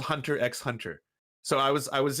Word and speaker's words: Hunter x Hunter: you have to watch Hunter x Hunter Hunter x Hunter I was like oh cool Hunter x Hunter is that like and they're like no no no Lance the x is silent I was like oh